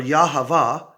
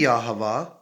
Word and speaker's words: Yahavah: it is ironic that or yahavah and that's which is the way i prefer to say it because it it rhymes with ahaba and it could be yahuwah so or one of